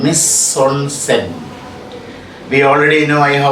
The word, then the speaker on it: mise en scène: The pronunciation is not mise en scene. Miss, M-I-S-E, miss, hyphen, E-N. It is pronounced as on. And S-C-N, scene is pronounced in French language as scène, mise en scène.